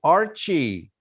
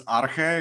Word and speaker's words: Arche: second place goes to archie we always mix the pronunciation where are you thank you very much uh it's arche it's from a greek underlying truth of